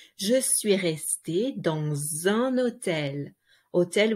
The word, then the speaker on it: hôtel: Je suis restée dans un hôtel. Hôtel, we don't pronounce the H.